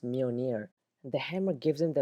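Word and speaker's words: Mjölnir: most famous weapon his hand Hammer which is pronounced Meir not M or meow meow it's actually pronounced Meir the hammer gives him the abilities to deflect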